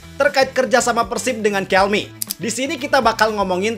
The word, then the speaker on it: Kelme: Jadi aparel ini dibacanya bukan Calme. Ingat ya bang, bukan Calme, tapi Calmi.